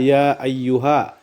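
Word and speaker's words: يا أيها: Ya ayyuha itu adalah mad jaiz munfasil. Cara membacanya adalah ya ayyuha. Panjangnya 2, 4, 6 harokat. Alasan mad asli bertemu huruf alif di luar kata.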